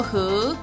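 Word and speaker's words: 覈: 今天要教大家的字是江江，这个字念作和，和而和，二声和，有检验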